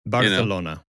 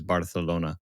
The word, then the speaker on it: Barcelona: But, yeah, this one had me thinking, ah, Barcelona and then and then Barcelona. No, you don't pronounce the c. It's a th if if you if you're doing Spanish, Spain, right?